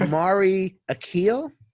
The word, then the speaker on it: Omari Akil: right now because i don't care it's like amari akeel yes yes oh yes i did it